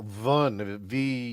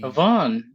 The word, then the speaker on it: Vun: and you would pronounce her name Vun, Vaughn. Okay. VUN.